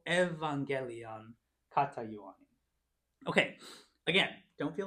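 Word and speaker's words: εὐαγγέλιον: Epsilon, epsilon becomes ev. So we have to evangelion katayuanin.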